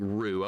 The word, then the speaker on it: Ryu: It's Ryu in Japanese with the accent. It sounds like ru.